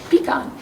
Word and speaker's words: pecan: And I say peon. I don't know what y'all say. Pecan. I say peon because I'm from here. That's the right way to say it. Pean.